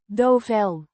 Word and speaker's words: Duvel: strong Belgian beer pronounced dofel with the o sound like in moon and the v sounding like a soft f.